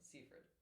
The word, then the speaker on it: Seyfried: how do you spell how do you say your last name seaford seaford which is insane to me uh promised in marriage